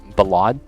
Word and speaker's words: ballad: boys like ballad wait it's ballot like like how I said ballot is how you say balad ballad so it's like saying the word valid with a B in the v in the beginning valid valid dude my